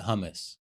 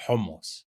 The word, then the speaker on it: hummus: So, chocolate hummus is chocolate hummus. It's not hummus. It's hummus. Hummus. Yeah. That's like How do you pronounce it again? Hummus. Hummus. Like you're coughing up a hairball.